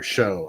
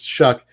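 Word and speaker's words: Shough: you have to understand, I can't stand the pronunciation of Tyler Show. I don't care. It's old English and it's Shuck. Spell Shuck like it is. All right. like sh hu ck.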